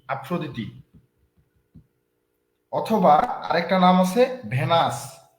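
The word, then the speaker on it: Aphrodite: daughters একজনের নাম হচ্ছে এথেনা আরেকজনের নাম হচ্ছে আফ্রদি বা ভেনাস লিখেন এথেনা এ টি এইচ ইটি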